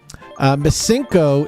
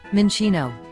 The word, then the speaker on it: Minccino: Mincinco, if it has Tactician, can be a murderer.